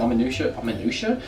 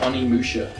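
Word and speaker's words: Onimusha: that's in their stack the random Oma amua Spyro that's not how you pronounce it Oni Musha uh dark mirror BDI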